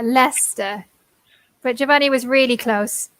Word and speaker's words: Leicester: very close though because what's worse is the pronunciation yeah Lester but javonni was really